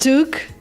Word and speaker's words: took: We use a different vowel. We use the short sound like look and book.